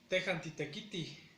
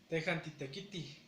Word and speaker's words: tejantitekiti: La mayoría de verbos que se conjugan con este pronombre se le aumenta la J al último y funciona como una H muda, pero en el caso de la H no se pronuncia y la J aquí sí se pronuncia, pero muy suavemente.